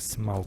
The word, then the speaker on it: Smaug: I think Smaug is the name. It's easy to pronounce in German. Like Smaug is just the way you would pronounce it in German.